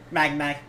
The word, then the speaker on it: Magnai: So, how do you pronounce his name? Magnai.